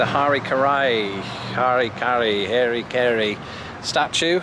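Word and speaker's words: Harry Caray: Harry Carey Harry K how do you pronounce that in British English you know those words because we don't have the merger of Mary Mary Mary so it's very hard for me to say his name and to get it right in the way I speak here he is it's Hari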